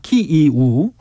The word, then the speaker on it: 키이우: 키예프는 앞으로 키이우입니다. 키이우.